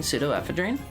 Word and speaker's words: pseudoephedrine: It's pronounced similarly to Sudafed, which is why it's called. Why Sudafed is called Sudafed. It's pseudo as in false. Ephedrine, right? Pseudoephedrine.